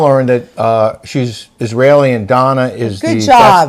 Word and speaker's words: Dana: We've now learned that she's Israeli and Donna is good job. That's the Israeli pronunciation of D-A-N-A is Donna, so that's why it's Donna and not Dana.